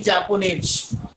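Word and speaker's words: japonais: अब यहाँ देखेंगे this one इज जापोने, this one इज जापोनेज, this one इज मारोके, this one इज मारोकेन।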